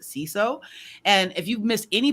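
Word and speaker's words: Siso: dr ceso c-so s-i-s-o but you pronounce it c-so and if you've missed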